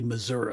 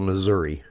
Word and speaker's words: Missouri: But TV news people seem to think they're supposed to say Missouri. At least, it ends with an I. An I doesn't have an A sound. It's pronounced exactly like it's spelled Missouri.